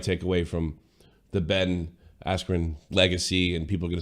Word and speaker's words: Askren: Speaking of announcers, do you know they got Ben Askren's name wrong when announcing him? What do they call him? Ben Askren? Ben Askew.